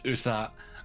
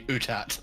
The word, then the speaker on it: Uthat: Because Picard says Uthat, and then a bunch of other people say Utat.